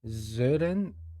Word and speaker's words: Sören: Sören, I think you pronounce the Ö sound.